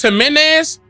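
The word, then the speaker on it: Jiménez: It's pronounced Jimenez.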